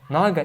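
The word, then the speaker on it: नग: Like naga, you have long a, naga, and naga is short a.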